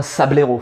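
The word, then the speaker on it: Sablaireau: dire, pour être correct, il faudrait être une sabelette et l'autre un sablero. Il faut virer le E du milieu parce qu'il faut revenir sur le sable. Sablero, Sablette, moi je les prononce comme ça.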